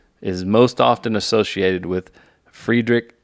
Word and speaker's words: Friedrich: most often associated with friedrich nietzsche or frederick nietzsche it depends how you want to say but i think the first pronunciation is correct um he argued that